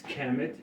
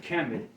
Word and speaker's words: Kemet: And you look at the word Kemet, how it's spelled with a piece of charcoal and an owl and a bread loaf making sound Kemet. The charcoal, the piece of charcoal makes the K sound.